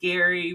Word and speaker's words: Gary: And our first year when we did it, we were all backstage like, hey, Jerry, hey, Jerry. And then he finally was like, hey, guys, my name's Gary with a hard G.